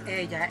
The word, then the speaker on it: Ella: the Ella toad and if you're saying it in Spanish it's egga and it refers to her